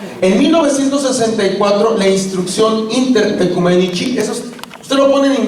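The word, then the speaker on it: Oecumenici: Pero el texto es Inter Ecumenici, se lee en A, la letra O y E en latín se lee como E. Ecumenici, C-I en latín se pronuncia como chi.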